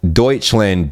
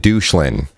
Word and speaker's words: Deutschland: the dislikes man uh i called deutschland douchelin and uh not a lot of people were happy about that oh gosh oh if you can look at the ramstein deutschland video reaction i pronounced it douchelin and everybody was uh